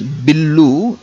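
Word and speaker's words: బిల్లు: So bill means in Telugu we సే we use English word only, but we add u sound at the end. Bill becomes billu in Telugu, but if you want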